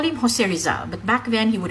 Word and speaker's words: Rizal: We call him Jose Rizal, but back then he would have referred to himself as Jose Rizal. The letter Z is pronounced like the English digraph TH by speakers of Castilian Spanish.